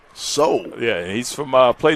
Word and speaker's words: Saul: spoke with his mother she told me that connect pun pronunciation of it is not so well it's soul soul yeah he's from uh